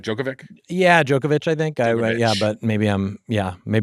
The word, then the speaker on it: Djokovic: I think the C's are itch in like if it ends with a C, it's an itch. Serbian, yeah. Jokic or Zubac. The D is silent.